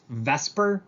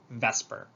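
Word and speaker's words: VSEPR: repulsion um it's pronounced vesper i know that swaps the e and the s but we call it vesper and the idea of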